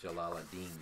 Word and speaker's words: Jalaluddin: I say it Jalaluddin.